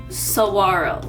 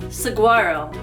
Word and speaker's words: Saguaro: need to know before you move here it's pronounced Saguaro not Saguaro you'll thank me later okay now I'm going